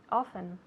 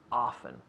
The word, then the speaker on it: often: Jackie goes to the library often. Yeah, often, often. Now, we have 2 potential pronunciations for this. Often and often. Often, often, often, often. Whichever one you like.